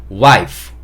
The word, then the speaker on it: wife: 한글로는 와이프 이렇게 써놨는데 사실 이거는 F2 F 발음으로 끝나기 때문에 와이프 보다는 F 소리를 좀 내주셔야 돼요 그래서 wife wife 이런 식으로 약간 바람이 3개 와이프 이렇게 해주셔야 되고 만약에 제가 와이프 와이프